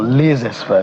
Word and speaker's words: laissez-faire: Well, there's the one you call laissez-faire parenting or laissez-faire parenting, if we go by the appropriate pronunciation.